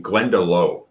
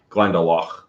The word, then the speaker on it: Glendalough: found out that dubliners like east coasters say glendalough uh i learned i know i learned how irish in the connect style so i i call it glendalough which is the correct pronunciation because dubliners are